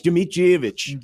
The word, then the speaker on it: Dmitrievich: No, it's Dmitrievich. Dmitrievich. I already forgot how to pronounce that.